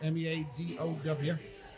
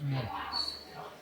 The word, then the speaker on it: Meadow: meta me o no me a d o w right I thought it was Meadow pronounce meow well I'm from Texas and anytime we see the word spelled out like that that's called meow yeah whatever because those